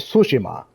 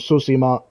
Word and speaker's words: Tsushima: Ghost of Tsushima. Yeah, I was saying sushi. I was saying something odd.